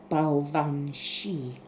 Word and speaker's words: Baobhan Sith: pronounce it properly is Baobhan Sith. So it's very much like the Banshee.